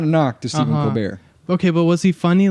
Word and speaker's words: Colbert: Did he pronounce it Colbert, or was it Colbert? So, it was Colbert. Okay. But then once we found out who his brother was, I called him Colbert.